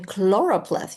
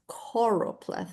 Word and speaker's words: choropleth: I think I've been saying chloropleth. You're right, and it's choropleth, I guess.